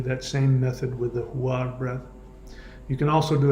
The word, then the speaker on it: huar: What you hear in the background is the huar breath. It's 2 syllables, hu, H-U, and the second syllable is ar, A-R.